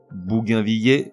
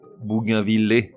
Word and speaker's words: bougainvillier: prononciation suivi de la bonne reblochon reblochon bougainvillier Bougainville qui représente la prononciation la plus correcte mais aujourd'hui rarement usitée